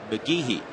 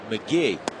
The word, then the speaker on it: McGehee: When you see his name, it looks like it should be pronounced McGehee. It's pronounced McGee.